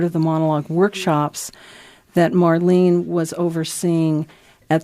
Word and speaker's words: Marlene: Following the solo performance piece featuring, do you pronounce it Marlene or Marlene? Marlene.